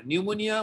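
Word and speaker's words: pneumonia: ইট ইজ the characteristic manifestation of পি, পি পি মানে paediatrics, P মানে নিউমোনিয়া, নিউমোনিয়া উচ্চারণ করা পি নিউমোনিয়া, পি এন ইউ।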